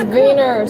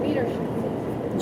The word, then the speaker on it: Wiener: No, it's Vener. I'm not calling it wiener schnitle. Vener. German would be the W is a V pronounced like a V.